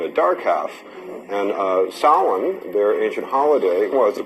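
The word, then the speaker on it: Samhain: was something that the ancient Kelts called sin. We spell it Sam Hayne. S A M H A I N.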